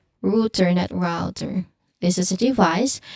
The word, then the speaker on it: router: The common mistake of router um uses the thong as in row row in the first syllable. So the correct pronunciation it uses the u vowel sound as in root.